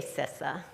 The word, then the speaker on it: CISA: infrastructure Security Agency so we just say sisa right because it's about